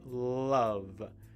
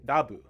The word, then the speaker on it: love: It's an extra tricky one because you also have to say the strong L sound at the beginning, right? Love, right? But of course, in Japanese, you say rabu, right? But if you say rabu, and an English speaker might hear the word lab, right?